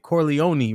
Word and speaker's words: Corleone: and I think you how do you say it Corleone right don't you say the e at the end y never seen Godfather